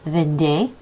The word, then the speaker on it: vendait: He was selling would sound the same, il vendait. We would just spell it with a T on the end.